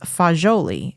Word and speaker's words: fagioli: Florence that area the word for beans is foli it's f a g i o l i foli now Italy before it was unified and and